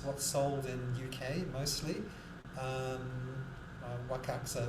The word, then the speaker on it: Wakakusa: Wakaksa as the Japanese pronounce it. So, but I'm English. I'll call it Wakakusa, and it's basically a medium grade.